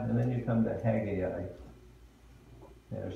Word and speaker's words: Haggai: then there's Zechariah, and then you come to Haggai.